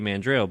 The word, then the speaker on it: Mandrel: Mandrel?